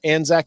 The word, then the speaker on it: Anzac: Anzac is spelled as it sounds, A-N-Z-A-C.